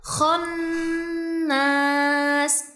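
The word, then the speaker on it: خنّاس: Dan ada huruf nun yang bertasydid yang disertai gunah dua sampai 3 harakat. Jadi bacanya khonnas. Khonnas.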